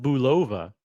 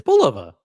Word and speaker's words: Bulova: Who who find who pronounces it Bova? It's Bolova.